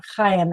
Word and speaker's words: Ham: And or Chaim actually is the way Ham is pronounced in Hebrew.